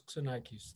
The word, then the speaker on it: Xenakis: It's Xenakis, or I mean, we've anglicized it, but it's in Greek, it's Xenakis.